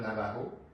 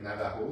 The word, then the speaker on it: Navajo: J'ai fait la méthode Navajo pour avoir 3 brins.